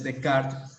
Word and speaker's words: Descartes: ya con descart o con Descartes es como normalmente lo pronuncian acá o lo pronunciamos aquí en México Aunque la pronunciación Debería ser de cart más o menos porque mi francés es